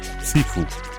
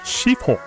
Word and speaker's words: Sifu: En verdad les estaba haciendo el endre para uno de mis roguelikes preferidos de todos los tiempos, Sifu. O como su pronunciación correcta sería Shifu.